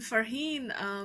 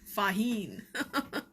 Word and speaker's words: Farheen: And Farheen, especially people in West cannot pronounce Farheen. It's Faheen. R disappears. Okay, so some days when